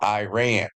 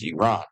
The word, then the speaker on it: Iran: to go into Iran or as you Americans call it Iran but around the world soon as Iran okay it's proper pronunciation they've been looking for